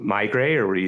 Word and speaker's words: Meigray: It's because it's Barry Meisel and Bob Gray. It's the two founders, like Meigray, connected together. So I think it makes more sense in the pronunciation when you remember that it's just the combination of their last names.